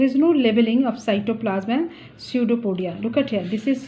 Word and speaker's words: pseudopodia: no leveling of cytoplasmic pseudopodia look at here this is pseudopodia this is pset4 p o d I a pseudo podía P is silent this is the false